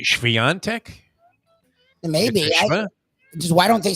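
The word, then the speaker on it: Świątek: the pronunciation of eager I've been saying Swire Tech forever it's really schvian Tech maybe just why don't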